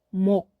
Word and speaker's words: 몫: 스 발음은 하지 않습니다. 목, 목.